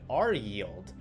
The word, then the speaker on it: RYLD: like qild and ryld can actually be pronounced just like q yield and r yield which just blew my